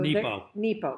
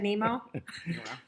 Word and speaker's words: Nepo: So Nepo. Mark Nepo. Did I say it wrong? Of Nemo. course. I said Nemo.